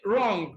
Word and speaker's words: wrong: future W is silent be wrong no even though you have W in wrong uh W is silent because whenever W comes